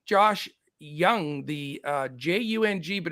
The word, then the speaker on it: Jung: Josh Young the uh Jung but it's pronounced young is uh only 2.2